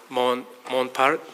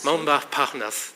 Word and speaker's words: Montparnasse: By the way, this morning I was walking from my hotel to this area, passing through this area called Montparnasse. Montparnasse, thank you for correcting my pronunciation.